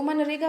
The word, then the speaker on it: MGNREGA: MGNREGA को जो bankers हैं वो मनरेगा प्रोनाउंस करते हैं.